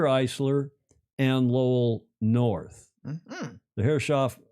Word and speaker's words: Herreshoff: The Herreshoff Herreshoff is how the locals pronounce it.